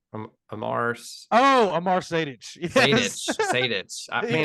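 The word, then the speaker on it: Sejdić: Sejic? Amar Sadic. Yes. Sadic. I He mean, did what to I the always dick? get right. the European names get me. Yeah, Sadic. Amar They do, Sadic.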